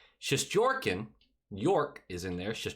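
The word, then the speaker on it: Shesterkin: go well for him schusterkin or as correctly said because my friend tia told me to say it correctly shish jorkin york is in there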